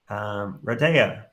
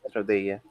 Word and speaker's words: Rodea: Radea, am I pronouncing that right? Radea? Yes, it's Rodea.